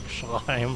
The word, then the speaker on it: Schleim: Yeah, I like how it's got the CH in it, so you gotta say it like Schleim.